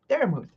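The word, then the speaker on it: Daramuthe: So I just now the E at the end is silent. Obviously, we all know about our language lessons. I before E except after C and all that good stuff. But yeah, so the E is silent. But yeah, I just took the sounding of vermouth and just kind of transcribed it over.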